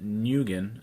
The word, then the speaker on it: Nguyen: I picked Dustin Nguyen, I believe is how you say his name, for Descender. I think it's Win.